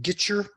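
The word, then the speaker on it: Gietschier: gu gner right sorry it's actually Steve getcher G it's one of these IE names it's hard to pronounce Steve getcher who I'm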